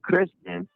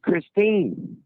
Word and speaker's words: Christine: You kept saying Kristen, and her name's Christine.